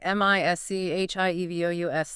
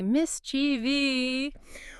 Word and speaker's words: mischievous: M-I-S-C-H-I-E-V-O-U-S, 3 syllables, mischievous. But so many people add an entire extra syllable. They move the emphasis and say mischievy.